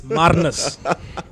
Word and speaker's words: Marnus: Marnes lab or labni how you want to say it. No, no, no. You are South African. Just because you moved to Australia hasn't changed how we pronounce it. Hey, it's Maris. It's Marnus.